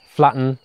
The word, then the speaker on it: flatten: bumpy rounded or uneven the stress is on the first syllable and the second syllable of flatten is very weak so we say flatten the curve flatten the